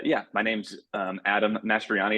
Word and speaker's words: Mastroianni: my name's um Adam mastriani is how you say my last name in case it's an emergency and the same as Mar mastriani the actor Yes Yes actually